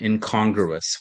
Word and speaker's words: incongruous: Yeah, the emphasis on the last syllable, surreal, and incongruous, which is the second syllable.